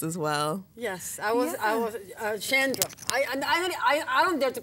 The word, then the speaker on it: Chandra: Chandra is, it's actually... properly pronounced Chandra. It's Chandra. Actually Sanskrit. It's an Indian, a name from India.